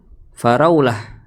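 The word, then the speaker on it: فراولة: aja New York ya misalkan faraulah ya faraulah itu kata untuk stroberi maka ya sudah fara Raulah tidak perlu sesuai dengan tulisannya tersebut.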